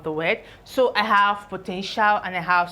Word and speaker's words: potential: So this is put together, potential. This is pronounced as shall.